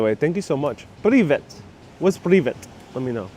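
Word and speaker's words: привет: It's pronounced privet.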